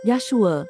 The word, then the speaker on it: Yahshua: Pertamanya, nama Hamashiach yang benar ialah Yahshua, tertulis dalam Perjanjian Baru yang asli dalam bahasa Ibrani. Keduanya, nama Yahshua diubah ejaannya dari Yahshua ke Yeshua oleh para imam untuk elak nama yang kudus disebut.